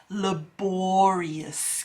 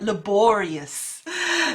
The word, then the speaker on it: laborious: And I've already mentioned that number 1 word for today is laborious. Can you pronounce that? Laborious. That's right, laborious. So you can see there's a stress and emphasis on the bore part.